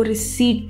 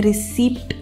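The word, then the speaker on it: receipt: में पेमेंट करी तो आपको वो रिसीट देते हैं, रिसीप्ट नहीं देते हैं। तो अगली बार जब भी आपको एक प्रिंट आउट मिलता है पेमेंट के बाद तो उसे आप रिसीट कहेंगे। पी इसमें साइलेंट होता है तो ये हो जाएगा रिसीट।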